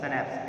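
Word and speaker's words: Schnapps: उन्होंने बोला हमारे पास सनैप्स है, ठीक है, उसको सनैप्स पढ़ते हैं अपन, इसका प्रोनाउंसिएशन होता है सनैप्स, SCHNAPPA सनैप्स।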